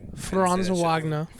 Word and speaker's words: Franz Wagner: You have Franz Wagner. That's how you say it, right? Franz Wagner.